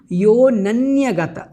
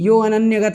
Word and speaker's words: योऽनन्यगत: और अंतिम में जो बताया है योऽनन्यगतचेतस्को, यहाँ पर ध्यान रखें, योऽनन्यगत, अनन्यगत नहीं, यो अनन्यगत चेतस्को ऐसा नहीं बोलना है, योऽनन्यगत चेतस्को यात्यसौ पदमव्ययम्।